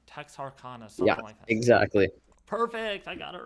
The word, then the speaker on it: Texarkana: do you say that Texarkana it's like the first Silo uh two syllables of Arkansas and the first syllable of Texas oh my goodness so text Arcana Texarkana exactly perfect I got